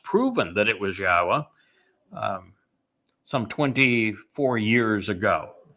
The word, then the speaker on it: Yahweh: And we were the first to reintroduce Yahweh's name properly pronounced, proven that it was Yahweh.